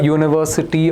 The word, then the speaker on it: university: Because although the uh the word university starts with a vowel u, it makes a y sound.